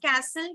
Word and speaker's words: castle: Castle, so you can say that ST, T will be silent.